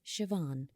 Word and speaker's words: Siobhan: call her by her full full Irish name pronounced Siobhan in years it turned out that Uncle Shawn